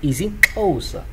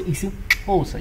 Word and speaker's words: isiXhosa: Like I say, whenever you have a X, let's say X A, you pronounce it cha cha. So if it's X E, that's a cha cha.